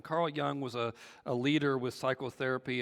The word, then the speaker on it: Jung: See, Carl Jung was it's spelled Jung, but it's pronounced Young. Carl Jung was a leader with psychotherapy and a contemporary of Freud.